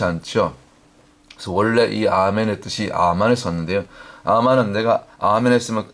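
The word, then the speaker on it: אמן: 말씀처럼 고린도서 있는 말씀처럼 원래 아멘이 히브리 원문의 발음은 아멘이 아니고 물론 아멘이 맞는데 원래 출발은 아만이 아만 원래 그 원조 아멘의 발음이 히브리어으로는 아만이 맞습니다 아만 그래서 우리가 보통 아멘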